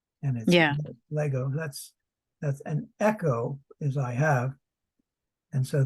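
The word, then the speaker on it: ἔχω: like Lego yeah and this one Echo is e c h oh right just like Echo you know a sound you know it's an echo but means I have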